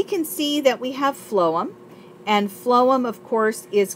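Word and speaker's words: phloem: of water xylm and flum phonetically sounds like food so so flum uh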